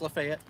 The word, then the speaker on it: Lafayette: We are in between Lafayette. It's spelled Lafayette, like the Marquis de Lafayette, but it is pronounced Lafayette, Georgia, and this is Trion, T-R-I-O-N.